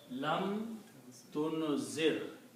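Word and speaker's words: لم تنذر: Lam changes this last letter, dhamma, to a sukoon. In the pronunciation, because of the lam, this is the characteristic of the word lam. So the word is lam tunzir.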